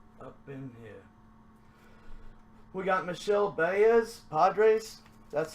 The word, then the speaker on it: Michel Baez: We got Michel Baez, Padres.